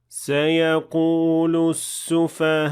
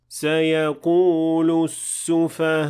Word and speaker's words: سيقول السفهاء: سيقول السفهاء. Here I didn't pronounce the hamza fully, and it didn't really sound right either. So how should we pronounce it then? سيقول السفهاء.